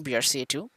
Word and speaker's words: BRCA: There are many different faulty alleles of the gene BRCA2. BRCA, pronounced BRCA.